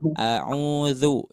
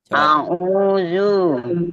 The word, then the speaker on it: a'udzu: Terus ketika ta'ud jangan a'uzu, jangan zu tapi zu ya. Pengucapannya otomatis, pengucapannya si lidah ditempelkan ke gigi. Zu, a'uzu. Coba Bu, ucapkan a'uzu. A'udzu. Nah, seperti itu Bu ya. A'udzu bukan zu.